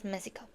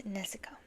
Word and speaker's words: Neso: Lucy loves neso but she can't really pronounce it she says it with an M she said she says meso meeso but it's neso so we got our